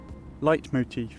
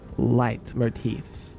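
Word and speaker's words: leitmotif: I don't know how to say it though. Light motif. Oh my god. Thanks, random guy over in the distance. Light motifs. Yeah, that's it, Neko.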